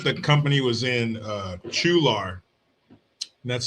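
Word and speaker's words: Chualar: And I think the company was in uh Chular. That's spelled ch H u a L A R.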